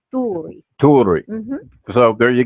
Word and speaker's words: Tuuri: the Americanized version is Turi, Right. and the actual pronunciation is Tuuri.